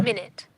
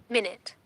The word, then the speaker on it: minute: minute and the pronunciation you can hear here minute the pronunciation is minute minute minute minute okay the pronunciation is minute